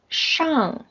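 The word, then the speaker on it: 上: means on it's like a table so the pronunciation is shang okay remember maybe you can write learn you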